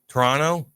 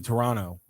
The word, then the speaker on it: Toronto: You're not supposed to pronounce the second T. Toronto. Yeah, it's supposed to just be Toronto.